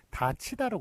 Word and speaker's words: 닫히다: 그 발음은 요게 디귿이 넘어가면서 티읕이 되고 그 다음에 이 앞에서 구개음화가 되기 때문에 다치다로 그렇게 발음이 되죠.